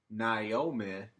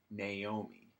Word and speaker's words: Naomi: He pronounced her name Naomi, but it was actually Naomi, obviously, so.